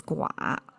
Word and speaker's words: 寡: Okay, this is gua. I translate it as alone. And the most frequently used meaning of this gua in Chinese is gua fu, means widow.